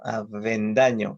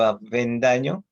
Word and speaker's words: Avendaño: Por algo se dice dentilabial, o la V es dentilabial, o sea, los dientes van con los labios inferiores para pronunciar la V. Yo me apellido Avendaño. Cuando yo les digo Avendaño, me preguntan, ¿cómo es eso, no?